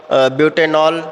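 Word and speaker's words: butanal: जो OH का होता है OL, जैसे एथेनॉल पढ़ते हैं, एथेनॉल, मेथेनॉल, ब्यूटेनॉल। ठीक है, तो इसका सीधे पढ़ेंगे ब्यूटेनल, एथेनल, प्रोपेनल। ठीक है, तो उनका प्रोनाउंसिएशन अलग होता है, इनका अलग होगा, ब्यूटेनॉल।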